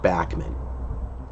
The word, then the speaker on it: Bachman: And yes, it is pronounced Bachman.